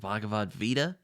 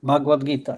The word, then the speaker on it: Bhagavad Gita: um the Bavad uh is it Bhagavad Vita or Vita? Yeah, right. Yes. Yes. Vita. Bhagwad Gita. You say it right.